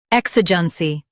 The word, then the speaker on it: EXIGENCY: U.S. stresses EK, while UK stresses I. Exigency.